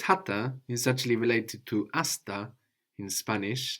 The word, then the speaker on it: hasta: And this hata is actually related to hasta in Spanish, like hasta luego, which is pretty well-known saying, hasta luego, which is spelled with a silent H, no, in Spanish, actually coming from Arabic, hatta.